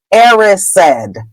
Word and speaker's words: Erised: called The Mirror of Erised. That is the proper way to say that word. If you read the chapters aloud on YouTube, the word is Erised.